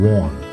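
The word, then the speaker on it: Vaughan: Professor Warren, so V-A-U-G-H-A-N, that's a name, that's a last name, Warren, V-O-H-N, that's the pronunciation, Warren.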